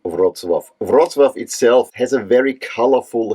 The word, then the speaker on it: Wrocław: of this year's conferencing final is of course Roswaf in Poland. And yes, that's how you pronounce it, not WZluff or whatever. In German, we say Brazla, but I want to stick with the name Rozswaf. Roswaf itself has a very colorful history, having been